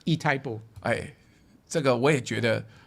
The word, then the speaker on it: Itaipu: In Latin America, is this Spanish or Portuguese? This shouldn't be Spanish, this should be indigenous - they say Itaipu, kind of strange, Itaipu.